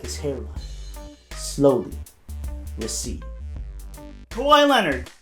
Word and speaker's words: Kawhi Leonard: Kawhi Leonard. Some people may say his name as Quiet Leonard.